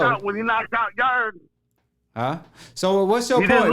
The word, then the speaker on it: Yarde: Yarde. Yeah, you talking about made up legacy? Yarde ain't no sissy. Who? Yarde. Yarde. Yeah, you ain't even say his name right, fam. He's Yard, but it's okay.